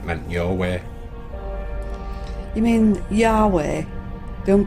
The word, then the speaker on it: Yahweh: think about it because it's just an approximation that's how it's written in the Hebrew and that's how we say it that's how it's pronounced